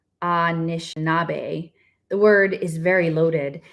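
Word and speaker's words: Anishinaabe: Chippewa and is in its original form ashinabe pronounced Anish nabe the word is very loaded and bears a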